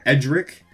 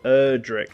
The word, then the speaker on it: Erdrick: First of all, I'm not a Dragon Quest fan, so please don't hurt me if I mispronounce his name, but Edric. Erdrick, like Erdrick.